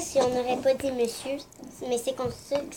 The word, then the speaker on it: monsieur: on n'aurait pas dit monsieur. Mais c'est comme ça que ça se prononce. Avant, ça se prononçait mon cœur. Parce que c'est M-O-N-S-I-E-U-R. Monsieur. Mais en fait, on le prononce monsieur.